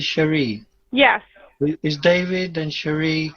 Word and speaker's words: Cherie: sherry cameron sherry uh c-h-e-r-i cherie you pronounce it shari yes is david and